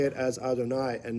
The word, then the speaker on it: Adonai: or a reminder that we say it as Adonai and not as Yud Ke Vav Ke pronounced.